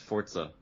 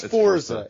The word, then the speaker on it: Forza: you say Forza it's Forza I always said Forza but I'm not it's it's Forza it's not for there's no tea in there there there's absolutely never